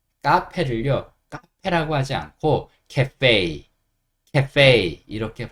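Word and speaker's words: café: 프랑스어인이 카페라는 단어를 씁니다 그리고 그때는 프랑스어 느낌으로 그냥 그대로 발음을 해요 그래서 알파벳 2가 여기서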